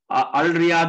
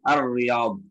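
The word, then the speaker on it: الرياض: அங்க என்னதான் அத்தம்மாம் அப்படித்தானே அல் ரியாத் என்றால் அதுவும் பிழை அர்ரியாத் அப்ப அங்க அர் வந்து அர் என்று தான் வரும் அதுபோன்று எனவே இது வந்து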